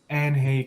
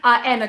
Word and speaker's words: Anhe: about your new project, Aynsley Comics. Am I pronouncing it right? How would you pronounce it? Anna Comics, that's how I would pronounce it. The H is kind of a soft H, I guess.